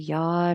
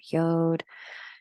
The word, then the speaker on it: yod: in a conversation that astrologers called a Yad or yod depending upon where you learned people pronounce it different ways and that yacht here